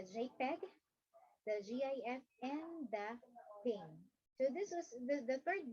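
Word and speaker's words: PNG: into three the jpeg the gif and the ping so this was the third bullet is pronounced as thing okay so it's a common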